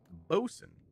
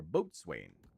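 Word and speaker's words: boatswain: currently wear right now which is bosen or B Swain depending on how you pronounce it um it is a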